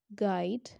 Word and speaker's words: guide: it comes after g the letter u is not pronounced when it comes after g and before a world in a word like guide guest god guess so